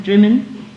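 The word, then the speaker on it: Drymen: And I had that kind of thing all the time, So you go into a shop in Drimmen, spelt dry men, but pronounced Drimmen.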